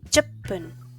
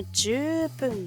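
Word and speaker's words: じゅっぷん: Se dice chupun, no jupun, no, chupun.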